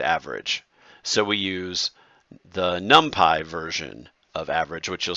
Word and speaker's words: NumPy: It's a little more complicated, this ND array out of NumPy, which is actually pronounced NumPy by the computer nerds.